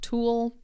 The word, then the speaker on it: tulle: There's also the same pronunciation but different spelling. Ghoul. Same sound. Tulle.